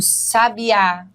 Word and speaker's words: sabiá: mas a gente diz já sabia o sabiá canta de uma forma majestosa percebeu Olha aí a diferença sabia sabia E são muitas as